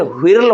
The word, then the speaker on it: whirl: अब देखिए होर्ल के जगह पर WHIRL व्हिर्ल होना चाहिए, ऐसे होर्ल है तो यहाँ पर हमारा क्या हो जाएगा, एच साइलेंट है, ध्यान देना है।